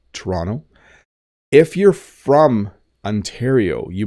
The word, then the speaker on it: Toronto: is an interesting one if you don't know how to pronounce this you might might say Toronto I I'm going to go to Toronto but we actually say Toronto Toronto Toronto so you notice that the second T does have a D sound Toronto